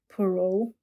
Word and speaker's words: Poirot: So this French guy, I can't even pronounce his name, Poirot.